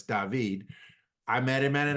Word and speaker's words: David: name of David uh yes it's spelled David but he's from Spain so it's David I met him at